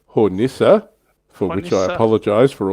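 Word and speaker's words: Hornisse: terrible German pronunciation Vesper the E is pronounced in German I've been dropping it like the French and I got spanked so yeah no it's hornissa for which I apologize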